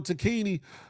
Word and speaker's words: Tacchini: I'm liking the fact that Sergio Tacchini, I know it's how it's supposed to be pronounced. I call it Tacchini.